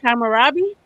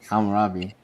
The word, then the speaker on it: Hammurabi: Kamarabi. Hammurabi. Hammurabi. And I I don't that's how it's spelled.